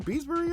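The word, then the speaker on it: Beesbury: love that Lord beesberry here is how you pronounced his name Lord beesberry or some child of forgetful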